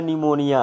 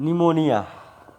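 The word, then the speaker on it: pneumonia: डुबो द्वारा पांचवा है स्टूडेंट्स जिसका नाम है न्यूमोनिया और को न्यूमोनिया कि अ हुआ है ए न्यू मोंठ निया अ को निमोनिया अपनी साइलेंट है कि इसके द्वारा होता है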